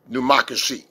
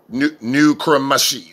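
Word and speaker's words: necromancy: God condemned pneumocracy, which is spelled N-E-C, pneumocracy. That's right, pneumocracy.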